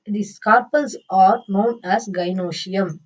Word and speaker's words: gynoecium: So collectively these carpels are known as gynoecium. How to pronounce this, gy, guy, noe, no, cium, cium. Okay, gynoecium.